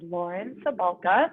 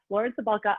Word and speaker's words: Cabalka: As Danny said, my name is Lauren Cabalka. It's a really hard one. Nobody ever says it right. It's a soft C, like celery, but most people say it wrong. But yes, Lauren Cabalka.